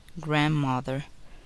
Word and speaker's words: grandmother: The letter D is silent in the following words. Wednesday, grandfather, grandmother, grandchildren, handkerchief.